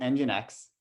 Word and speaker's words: nginx: ever seen that before you pronounce it engine x um and this took